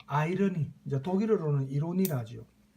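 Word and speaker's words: Ironie: 그래서 이 유머러스한 어떤 내용을 항상 작품 속에 포함을 시켰고 또 아이러니, 이제 독일어로는 이로니라죠. 독일어로 발음하면 이로니, 우리 보통 반어, 그죠?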